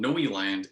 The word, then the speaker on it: Neuland: well speaking of brooklyn this film is called noeland and it's spelled in a way that people would mispronounce